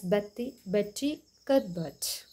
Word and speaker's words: Betty Cuthbert: Glossary words, Betty Cuthbert, pronounced as Betty Cuthbert.